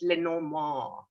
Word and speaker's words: Lenormand: for the uninitiated uh if you want to say it like the french would say it's le no more you know you do